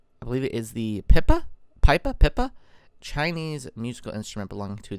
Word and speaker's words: pipa: There's the pipa again. I believe it's pronounced pipa, pipa.